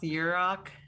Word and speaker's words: Yurok: It's pronounced Yurok and Washo and Surigaonon, and we live in Aquas, Chesne.